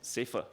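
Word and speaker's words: SAFEF: AGR food Enterprises Federation SF or if you can pronounce it safer for short safer aims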